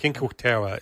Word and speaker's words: Cinque Terre: You know, Cinco is it? How do you pronounce it? Cinque Terre.